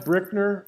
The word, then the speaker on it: Brickner: It's pronounced Brickner, like bricks. It's a German name.